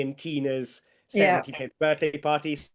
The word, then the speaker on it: Tina: Tilly rhymes with Ali and Tina rhymes with Emma.